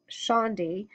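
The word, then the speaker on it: candi: The temple, or Khandi in Yavanese, pronounced Shandi, fell into disguise roughly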